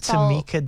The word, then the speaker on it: Tymicah: So my Instagram is the Tamika Diaries, but my name's The Tamika Diaries. Yeah. But it's spelled weird. Like my mom was trying to be creative. So it's t y m i c a h.